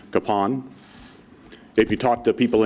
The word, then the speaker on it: Kapaun: last name is pronounced Capone if you talk to people in Kansas our last name is pronounced Capen and you're probably wondering